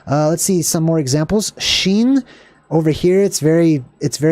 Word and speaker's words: shin: and that's R orish all right so kofresh sheen sheen so just like your shin which is